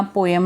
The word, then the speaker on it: poem: कहते कि ये जो पोम है या पोएम है, बोथ आर एक्सेप्टेबल, पोएम है, ये एक एक्चुअली में एक स्टोरी है.